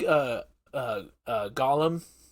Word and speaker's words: Golem: like uh uh uh Gollum not Golem yeah Golem sorry Golem over the years I've had trouble pronouncing Golem and Gollum and I I mispronounce I switch pronounce both them so that's entirely my